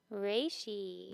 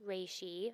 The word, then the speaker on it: Reishi: We learned exactly how it's supposed to be pronounced. Wifey Jill, what is this segment's mushroom? Reishi. Reishi. Not Rishi.